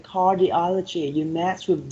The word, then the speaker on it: cardiology: one we have cardiology so the third syllable receives by uh the stress right cardiology so number one you